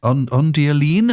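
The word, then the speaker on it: Ondioline: Ondeline, am I pronouncing that right? Yes. Wow, there's some virtuosic stuff going on there as well. Yeah, that's Jean-Jacques Perry, P-E-R-R-E-Y, playing the Ondeline presets, and that's an unaccompanied demo of many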